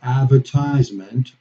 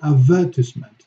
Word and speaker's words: advertisement: pronunciation okay different punching for example in the u.s. we say advertisement advertisement and in the UK they say a vert Iseman advertisement okay in the u.s.